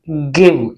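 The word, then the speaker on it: give: जी आई वी ई, गिव, यानी ई silent रहेगी, गिव।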